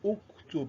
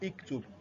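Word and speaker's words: اُكْتُبْ: But you vowelize it, you pronounce it with what? With dhamma. So that kataba yaktubu uktub is not iktub and is not aktub.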